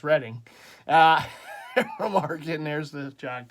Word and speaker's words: Reading: Market and it's reading some people say reading because it's spelled like reading but it's reading uh Mar there's the